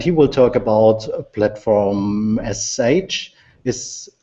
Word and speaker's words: platform.sh: will talk about a platform sh is sh the right way to pronounce it sure think about it like a shell script right so platform.sh all